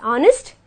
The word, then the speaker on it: honest: Okay, there are exceptions like honest and are, where an H becomes silent and we pronounce it as honest and are.